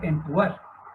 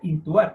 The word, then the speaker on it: intubar: No se dice entubar, se dice intubar.